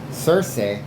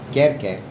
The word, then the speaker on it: Circe: Circe, or Querque, is actually the correct thing. And this is gonna, okay, remember this one, okay? Querque, that's Latin. Circe is Greek. Okay? Same spelling, different pronunciation. Latin, all C's, hard K.